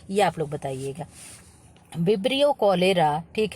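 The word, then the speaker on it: cholera: सीएच से शुरू होता है। लेकिन आप लोग इसको चोलरा मत पढ़िएगा। क्या है? कोलरा होता है। ठीक है? सी क्या होता है? एच क्या होता है? साइलेंट होता है।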